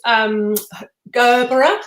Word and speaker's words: Gerbera: Is that how you say it in the US? Because I Gerber. say We don't have the A. We don't. I don't. At least I don't put the A on.